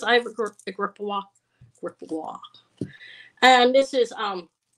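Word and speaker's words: Gripoix: p o iix and it's um pronounce GPA kind of like gria okay F over clasp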